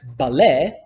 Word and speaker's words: ballet: a body of water the letter T also in a lot of French words like ballet but also much like